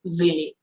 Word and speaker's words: Willy: how really sorry because the real pronunciation in japan is villi then if you wanted to say in english version willy it's okay too but um i like